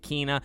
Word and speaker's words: Kena: kinah of spirits now i've always called it kenna a couple months ago i changed it because i heard other people calling it kinah i do believe that is the right pronunciation but bridge of spirits